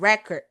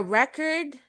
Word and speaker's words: record: record and record a record and record noun Record is the verb. Address address. Your address is where you live. To address something means to talk about an issue. Okay. So that's why it's very important for you to apply proper stress on words.